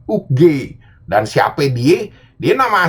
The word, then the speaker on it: Oogway: Lo kalau ngomong Master Ugwe di channelnya itu, lo tuh salah. Lo kalau perhatiin tuh sebenarnya dibacanya Master Uge.